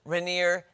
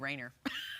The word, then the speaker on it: Rainier: Mammoth, Rainier, Teton, and Mesa. Now see, I would have said Rainer. I only know because I've been to Mount Rainier.